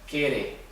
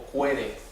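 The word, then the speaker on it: Qere: Y a la nueva corrección le llamaban Kere o Cuere, con Q, sin la U.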